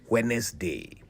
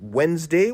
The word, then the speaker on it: Wednesday: just try to remember the first D and the second e are silent so it's Wednesday not Wednesday now did you know that Wednesday was named after the